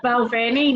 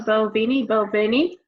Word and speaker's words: Balvenie: So you have to pronounce it correctly. It's Glenfiddich in America. Glenfiddich. And then we have Balvenie, not the Balvenie, which we acquired the